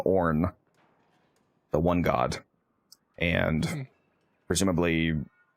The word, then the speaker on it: Aorn: And the god name for the one note is Orn. It's spelled Aorn. If it ever gets recombined and it chooses to descend down into the material plane, for example, it would take on the name Orn, the one god, and